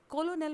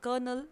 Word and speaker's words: colonel: correctly pronounce करना है इसे कॉलोनियल प्रोनाउंस नहीं किया जाएगा इसे प्रोनाउंस किया जाएगा करनाल या फिर करनाल ओके समझ में ए